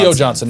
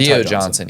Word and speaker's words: Theo Johnson: Theo Johnson, not Theo Ty Johnson. Yeah. Got his name wrong.